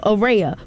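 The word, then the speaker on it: Araya: array of sunshine Heavenly it's spelled a r a y a so Ora but you you caught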